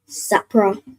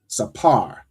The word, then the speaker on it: sapar: So you sir is it sapra? So not not sapra but that last part. So sa and then the p and ra are joined.